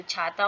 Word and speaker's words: क्ष: तो ये जो इनका उच्चारण स्थान क्या है? कंठ और मूर्धा है। यानी छ का उच्चारण करना होगा। तो कंठ और मूर्धा दोनों का मिश्रण करना होगा। दोनों को मिलाना होगा।